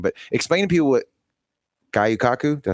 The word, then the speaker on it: Gyotaku: explain to people what Gyotaku, did I say it right? Gyotaku. Damn it. I knew I was going to, yeah. It's like taco. Gyotaku.